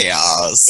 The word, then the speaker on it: KAOZ: Pure KAOZ, Pure Cows, I don't know how I'm supposed to pronounce that. Chaos. Said, oh, there we see. I think it's chaos.